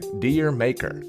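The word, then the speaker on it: D'yer Mak'er: In 1973, Led Zeppelin released their universally mispronounced reggae rock classic, Dear Maker. When said properly, with a thick Cockney accent, the title sounds like the Caribbean island where reggae began.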